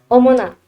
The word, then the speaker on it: 어머나: Jadi tapi dibacanya gimana? Omona.